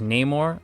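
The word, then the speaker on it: Namor: Tenna Maya as Neymar.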